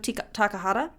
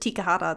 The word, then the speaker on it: Takahata: But it was written and directed by Isao Takahata. I almost said Tikahata. That's not right.